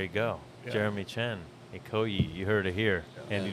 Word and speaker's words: Ikoyi: Ikoyi? Is that how yeah. it's pronounced?